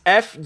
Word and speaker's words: furibund: what no uh it's f-u-r-i-b-u-n-d oh yeah furibund fury bund fury buns of fury you ignore the eye you pronounce the e fury bund okay well well dave